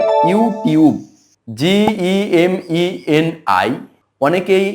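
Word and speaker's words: YouTube: সঠিক উচ্চারণ হল ফেসবুক ওয়াই ও ইউ টি ইউ বি ই এটার উচ্চারণ অনেকেই করে ইউটিব আসলে এটার সঠিক উচ্চারণ হবে ইউটিউব জিই এমই এন আই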